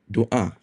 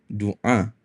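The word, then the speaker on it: doa: in this particular system which follows how um the malays pronounce it so we pronounce it as Dua not Dua in Arabic so as such we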